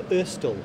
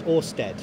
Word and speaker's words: Ørsted: big marketing exercise we've changed the company name to istel or I think in the UK it will be pronounced Oersted I thought I got that